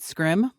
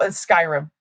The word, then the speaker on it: Skyrim: You play War Zone, Rainbow Six, and Am I pronouncing this right? Scrim. Okay. So, I play I play War Zone. I play Fortnite. It's called Skyrim.